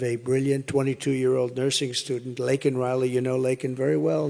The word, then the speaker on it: Laken Riley: And after months of prodding him, Biden couldn't pronounce her name. He said Lincoln Riley, and Lincoln Riley is the football coach, or the coach.